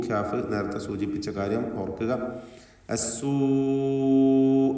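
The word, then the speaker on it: السوء: അസ്സൂ എന്ന പദത്തിലുള്ള ദീർഘം മദ് മുത്തസിൽ വാജിബ് എന്നതാണ്. നിർബന്ധമായും അതിലുള്ള ദീർഘാക്ഷരമായ വാവിന് 4-5 ഹറക്കത്തിൻ്റെ അളവിൽ ദീർഘിപ്പിക്കേണ്ടതാണ്.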